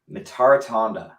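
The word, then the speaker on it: Mitarotonda: Someone's asking to pronounce Rick's last name. Mitaratonda.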